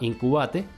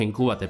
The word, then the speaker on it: Incubate: Nosotros pasamos por varios de estos programas y actualmente estamos en uno que se llama incubate. Nosotros le diríamos incubate, pero acá se pronuncia incubate por el voceo.